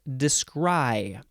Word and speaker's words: descry: It is pronounced descry.